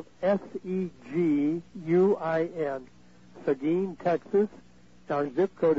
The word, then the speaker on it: Seguin: and then I'll repeat it 103 Old Town which is one word Old Town Road the city is the game that's spelled s-e-g-u-i-n Seguin Texas our ZIP code is 78155 and